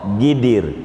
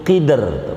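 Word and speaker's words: قدر: Karena kita ngikutin lugatnya orang Arab yang gak bisa qaf, gidir, gidir. Bikin kebulinya berapa gidir, itu qidr, qaf.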